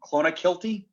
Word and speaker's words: Clonakilty: heard of this rory an irish whiskey clone clona kilty clonakilty i'd i'd have to read it uh